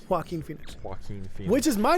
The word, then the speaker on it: Joaquin Phoenix: How do you pronounce his name? Joaquin Phoenix. Joaquin Phoenix.